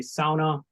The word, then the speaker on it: sauna: to the chipa valley when you hear us say SAA that's the uh correct pronunciation um if you say it incorrectly to any person from the up they will quickly correct you my name is Graham